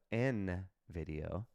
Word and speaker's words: Nvidia: to sell when you're Nvidia not Nvidia but n video if you want to pronounce it right um if you want